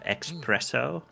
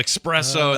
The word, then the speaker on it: espresso: for some reason so espresso oh espresso instead of espresso that's good very that's a good one that's not Regional let's do that nope there is no X an espresso show us espresso yeah